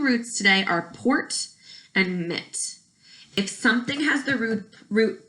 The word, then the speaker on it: mit: Now, the second word, root, is mit. Please say mit. Good. Notice that it's spelled M-I-T instead of M-I-T-T.